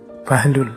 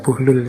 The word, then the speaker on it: Buhlul: Ini ada yang membacanya Bahlul, ada yang membacanya Buhlul. Saya milih membaca Buhlul saja ya.